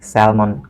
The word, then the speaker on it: salmon: L is not pronounced. That means L is silent in here.